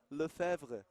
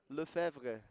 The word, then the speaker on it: Lefebvre: How do you pronounce that name correctly? Lefebvre. Lefebvre.